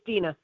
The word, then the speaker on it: Dina: Deanna? Thank you. Yes, it is. Is it Dina or Deanna? I want to be sure I'm saying it right. It's Dina. Thank you.